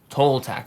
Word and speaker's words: Toltec: Tol or toe? Tol. Toltec.